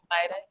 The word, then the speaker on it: vitae: Curriculum vitae. Vitae, I believe is how you say it. It's VITAE. Oh, Vitae. Nice.